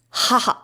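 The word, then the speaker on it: 母: pronunciation is BU and the Japanese pronunciation is haha as for the etymologies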